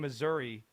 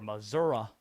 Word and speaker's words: Missouri: Miami played the last game of the night last night, beating Missouri or Missouri, depending on your preferred pronunciation, beat them in St.